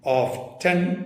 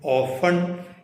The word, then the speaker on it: often: ഇതിൻ്റെ കറക്റ്റ് സായിപ്പിൻ്റെ ഉച്ചാരണം ഓഫ്റ്റൺ എന്നാണ്. OFTEN, ഓഫ്റ്റൺ. എന്നാൽ ഈ വേർഡ് അമേരിക്കൻ ഇംഗ്ലീഷിൽ ഓഫൺ ടി ഉച്ചരിക്കാറില്ല ചില കേസിലൊക്കെ.